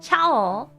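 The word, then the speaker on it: チャオ: So you noticed chi and small ya fused together become cha.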